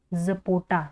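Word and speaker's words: zapota: across ए सी एच आर यू S across जपोटा जड ए पी ओ टी ए जपोटा ठीक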